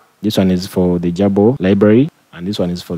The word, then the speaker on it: GRBL: the first one is grbl which is usually pronounced as Jabo and the other one is the universal g